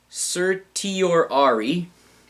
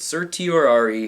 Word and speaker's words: certiorari: it started with C it rhymes with Illuminati where is it passed away there's and we granted certiorari I told you it remind your Ryan was Illuminati and we granted certiorari in these matters to